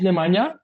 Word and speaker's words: Nemanja: Uh, my name is Nemana. Can be a bit tricky to to pronounce it, but you are really really well in that.